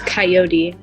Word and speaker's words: Kyoti: It's Kyoti, spelled like the animal, Coyote.